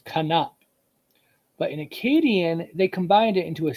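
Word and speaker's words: כנף: So in Hebrew, it does not get dropped because we pronounce it as kanap, 2 syllables, kanap.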